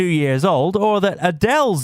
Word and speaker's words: Adele: years old or that Adele's name is pronounced Adele not Adele for this week's episode